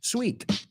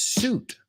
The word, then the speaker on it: suit: common mistakes for example a lot of my students pronounce the word suit sweet but it's suit bathing suit so I give you